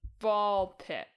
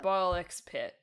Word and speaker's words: BALL x PIT: Uh and we're talking about ball pit or ball x pit. The x is silent.